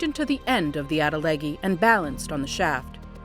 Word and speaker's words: atlatl: Atlatl. That's how I pronounce it and it means you throw it further.